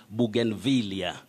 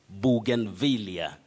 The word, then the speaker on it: bougainvillea: the many letters and the correct or acceptable pronunciation of that word is bougainvillea bougainvillea so you can also say bougain but bougainvillea is the right pronunciation for that word remember that is